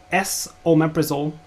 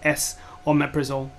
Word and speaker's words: esomeprazole: So you could actually just write S, the letter, omeprazole, but they put ES so that it's clear that you're looking at pronouncing it correctly as S or meprazole.